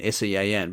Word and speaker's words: Sean: Create everyone says my joke is Sean, S-E-A-N, but because it's in Gaelic, it's pronounced Sean.